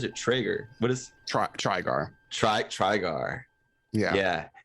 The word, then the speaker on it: Trygar: Is it Trygar or is it Traeger? What is Trygar? Trygar. Yeah. Yeah. It's said exactly how it looks.